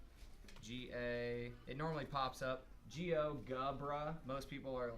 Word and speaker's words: GeoGebra: you're in Chrome and you search geogebra Geo GA it normally pops up Geo gubra most people are like